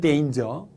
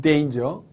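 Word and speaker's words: danger: 이렇게 말하는 경우도 있습니다 물론 이단 의 정확한 발음은 데인즈 데인저 은 데인저 자 또 어떤 분들은 요 설탕이나 뭐 이렇게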